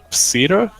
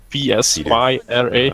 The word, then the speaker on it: Psyra: almost got myself banned by, fuck, I cannot pronounce his name, Psyra? P-S-Y-R-A, yeah.